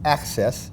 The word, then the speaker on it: Axes: his company, which is Access. It's spelled A-X-E-S, but pronounced like A-C-C-E-S-S.